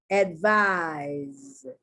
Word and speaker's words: advise: Advice, advise. The C is being pronounced like an S, and the S is being pronounced like a Z.